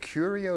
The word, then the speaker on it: Curio: But what is it, Curio? Is that how you say it? Yes, a Curio collection.